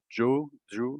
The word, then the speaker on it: Zhou: Et les grands candidats sont, je dirais, Antonio Giovinazzi, Zhou, alors qu'il Oui, faudrait prononcer Zhou, en F2.